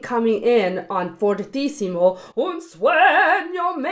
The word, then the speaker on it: sueño: Now it's not sueño, but sueño.